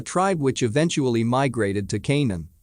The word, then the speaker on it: Canaan: which eventually migrated to Canaan, pronounced Kanan with the K sound of the serpents, a territory on the Asia Minor coast, which can be translated as the land of the fire serpent.